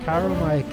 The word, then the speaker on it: Chiromite: Chiromite.